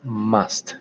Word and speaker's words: must: Otra cosita que se me olvidó decirles, la pronunciación de este verbo modal es must, como si fuera una A, must, ¿listo? No diga must, no diga must, con una A.